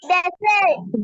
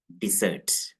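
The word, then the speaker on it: desert: പറയുന്നതാണ് എന്ത് നിങ്ങൾ പറയുന്ന ഡിസേർട്ട് ഇത് ഡിസേർട്ട് ആണോ അല്ല ഡിസേർട്ട് എന്ന് വായിക്കരുത് ഇത് എന്താണ് ഡെസേർട്ട് ഡെസേർട്ട് ഡസറ്റ് ഡെസേർട്ട് ഇവിടെ ശ്രദ്ധിക്കേണ്ടത് ഹലോ ശ്രദ്ധിച്ചോളൂ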